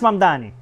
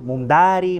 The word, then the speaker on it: Mamdani: Fíjense, nadie sabe pronunciar mi apellido. Es Mamdani, pero a cada rato me dicen Mumdari, Mumnari.